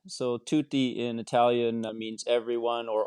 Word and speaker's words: Tutti: in am i pronouncing it correctly yeah it's pronounced tutti so tutti in italian means everyone or all so that's